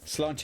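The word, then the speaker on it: sláinte: So, slanche is like, you know, cheers, health, and it is um we we pronounce it slanche and in Scotland pronounced slange.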